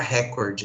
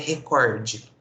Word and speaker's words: recorde: Na verdade, a pronúncia correta dessa palavra é recorde, né? Recorde. Ela é uma paroxítona e não uma proparoxítona, né?